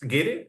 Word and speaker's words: guiri: The Spanish people, they tend um, to pronounce them as Guiri, isn't it?